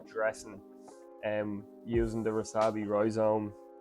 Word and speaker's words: rhizome: this is the Roy Zone I always say hoizen because my wife's Portuguese and they don't pronounce the ore so I was about to say hi zon but it's rhizome and this is the stem also known as